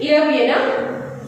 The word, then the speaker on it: European: See the pronunciation? European. European. So the pronunciation is not like a vowel. It is like a consonant.